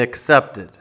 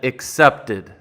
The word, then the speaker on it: accepted: learn something else so she said accepted but what she meant to say was accepted so let's focus on